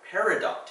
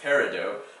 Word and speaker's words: peridot: It's also similar in construction to the word peridot here, which can actually be pronounced peridot, but usually when you refer to it as a gemstone, you call it peridot.